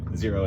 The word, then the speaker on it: Xero: It's got, Zero is my favorite.